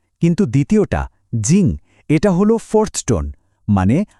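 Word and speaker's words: 静: কিন্তু দ্বিতীয়টা জিং, এটা হলো ফোর্থ টোন, মানে আওয়াজটা হঠাৎ করে ওপর থেকে নিচে নামবে, একটা ঝটকার মতো, জিং।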